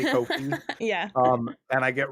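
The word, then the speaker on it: Ko-fi: a is it a coffee or patreon yeah so I I have a um everyone roast me because I refuse to say it right but I say Kofi it's coffee but I say cof yeah um and I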